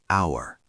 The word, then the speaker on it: hour: Hour. Pronounced hour. Silent H.